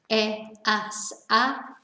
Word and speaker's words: he: the h verb remember we don't pronounce the h so it's e and then with our